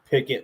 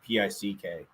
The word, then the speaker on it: Pikkit: It's Pikkit like that. That's how you spell it. It's not Pick.